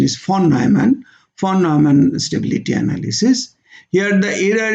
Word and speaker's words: von Neumann: Now this is called von Neumann stability analysis. Correct pronunciation is von Neumann stability analysis.